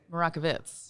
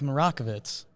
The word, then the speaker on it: Marakovits: do that Brockovich how many people get your name wrong maracas bits yeah did I get wrong yeah slaughter it Jake do the intro we're here with Meredith marakovits he got it right yeah I listened to